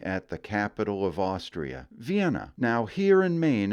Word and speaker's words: Vienna: Agathe, Sanford, and Eastport haven't passed that way, but it is Vienna, not Vienna.